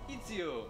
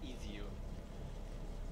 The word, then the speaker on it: Ezio: I do like how Desmond pronounces Ezio. It's Ezio.